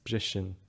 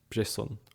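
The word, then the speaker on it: briseann: It's brishin and not brisson or something like that.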